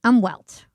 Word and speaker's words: Umwelt: Umwelt. I think that's how you pronounce it. Umwelt. Yeah, that's it. It sounds German, right?